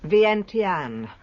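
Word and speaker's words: Vientiane: Her first commercial experience came in, how do you pronounce it? Vienten, capital of Laos, a distilling company.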